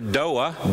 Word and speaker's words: door: In the South, we add a syllable to that and we call it a floa. Same thing for doa, door.